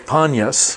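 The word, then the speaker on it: Paneas: here is really called punyas upon us but because arab folk or some semitic folk cannot pronounce the piece it comes out as it be so time sometimes you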